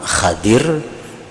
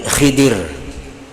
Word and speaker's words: Khidir: Jadi membacanya ada dua cara. Yang pertama Khadir, Nabi Khadir, atau Nabi Khidir. Kada ada Nabi Haidir.